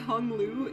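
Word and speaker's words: Hong Lu: Yo, cuz Hungu's name is actually pronounced Hunglu.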